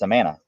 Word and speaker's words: Amana: how does that work it's a mana don't say amana i'm anna remember mr